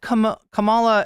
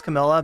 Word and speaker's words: Kamala: Then it's incumbent upon you to let Kamala, I almost said Camilla, this has gotten into my head. I forget who mispronounced her name as Camilla, but it's incumbent upon